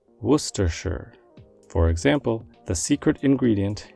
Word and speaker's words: Worcestershire: sauce gets its name while the spelling suggests it should be pronounced in four syllables it is actually said in three Worcestershire Worcestershire for example the secret